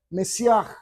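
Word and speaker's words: מָשִׁיחַ: La palabra en hebreo se pronuncia Mesiaj y en el griego se pronuncia Cristo.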